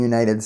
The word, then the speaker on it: United: United States Senator because the you in the United States of course is a vowel but it actually sounds it starts with a sound more of a consonant sound so the correct way